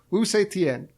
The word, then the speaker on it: Wu Zetian: But I'd like to hear how Zach pronounces her name. Give it to me one more time. Wu Zetian. Wu Zetian.